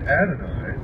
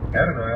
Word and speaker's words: Adonai: Adonai also spelled, well, in the first place here, it's spelled A-D-O-N-A-Y. It says Adonai, also spelled A-D-O-N-A-I, is the Hebrew word for God.